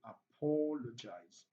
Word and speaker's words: apologize: When words ends with IZE or ISE, just count three syllables backward, just like ATE. Just like ATE, just count three syllables backwards. Yes, we're talking about antipenultimate. So we have one, two, three. So apologize. Option B.